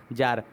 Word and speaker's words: Tsar: तो जार का spelling TSAR है, लेकिन प्रोनाउंसिएशन जो है वो जार कहते हैं इसको।